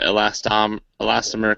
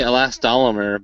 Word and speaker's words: elastomer: What it's made out of is a thermoplastic with an elastomer case. The word always trips you up, Ryan. I want to say elastomer, but that's extra syllables. Elastomer. Just go with elastomer.